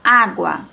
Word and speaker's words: água: a água tá então não posso separar água não tem que falar água tá então essas são